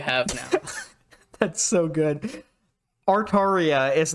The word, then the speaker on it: Artaria: Artaria is not Atari, but I respect it.